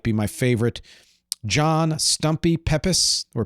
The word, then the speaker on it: Pepys: John Stumpy Pepys, or Pepys, depends how it's P-E-P-Y-S, and Samuel Pepys, that's how you actually pronounce his name.